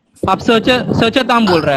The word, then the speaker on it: सचतां: यहाँ पे वनस्पतिम के बाद जो त है वो है वो हाफ त है ना, उसका उच्चारण इतना साइलेंट है कि वो आपको ही सिर्फ सुनाई देगा। चांट करने वाला दूसरे चांट करने को सुनाई नहीं दे सकता है।